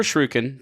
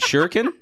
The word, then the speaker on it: shuriken: So, conformer shrugin for two colorless. You got legendary artifact equipment equip. Oh, it's cuz you're mispronouncing shuriken. Is it shuriken? Shuriken. Shuriken. Shuriken. Like like shuriken.